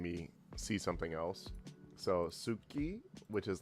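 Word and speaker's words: 好き: However, like when you pronounce the word ski, like ski like you know ski to like something suki, you can say suki suki, but it's typically pronounced ski, which is kind of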